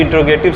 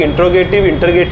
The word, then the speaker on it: interrogative: पहले इसका स्पेलिंग आप देख लीजिएगा, और इसे लोग बहुत गलत नाम से पढ़ते हैं, आपको बता रहे हैं। इंटरोगेटिव, इसको लोग इंटरोगेटिव पढ़ते हैं, आपको क्या पढ़ना है?